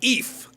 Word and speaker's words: Eef: Guest of Chuck Sawyer, Eef. He told me his last name rhymes with both beef and grief, so you guys decide.